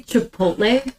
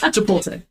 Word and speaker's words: Chipotle: When you say Chipotle, oh yeah, you say it wrong every time, and I'm always like, I don't even correct it anymore. Oh, it won't work. Say it. No, Chipotle.